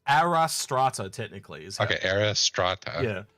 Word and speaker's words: Astraea: We literally had to Google it on how to pronounce it because I'd forgotten how to say it. But it's Arastra technically.